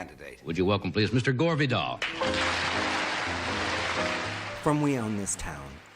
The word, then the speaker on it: Vidal: I don't want to even think that you Well, pardon me, would I stop mispronouncing your name? Well, how do you say it? Vidal.